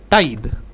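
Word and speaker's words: tithe: एक होता था जिसको बोलते थे हम लोग टाइद। इसको कहीं-कहीं पर लोग टीदे भी बोलते हैं लेकिन टाइद करेक्ट प्रोनाउंसिएशन होता है।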